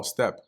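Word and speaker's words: steppe: Oh, step. Okay. Like I wasn't pronouncing it right. Step. Yep. So step, not steep.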